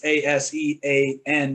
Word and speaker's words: ASEAN: I'm not sure how you pronounce it. It's ASEAN, which is what you're referring to, I believe.